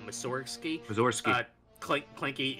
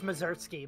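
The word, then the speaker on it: Mussorgsky: Mountain by uh uh Missouri clinky if I mispronounce any of these names feel free to correct me yeah no I'm pretty sure it's mazurtsky but yeah Ave Maria um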